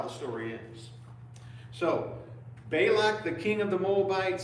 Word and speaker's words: Balak: Who says Bailac? I don't want to annoy everybody in this room. Does Is there a right way to say it? Bailac.